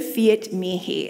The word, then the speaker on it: Fiat mihi: cold days so today we are unpacking the Fiat me he and I'll spell it for you if you're taking notes its